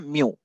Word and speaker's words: mu: इसको कैसे प्रोनाउंसिएट करते हैं? म्यू, MU म्यू, ठीक है?